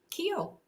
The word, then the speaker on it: Kehl: name is is it Keel Keel yes good good I wasn't